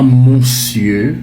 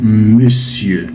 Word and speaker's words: monsieur: Et l'orthographe, c'est bien ça, mais la prononciation est inexacte. Ce n'est pas monsieur. Non, c'est monsieur.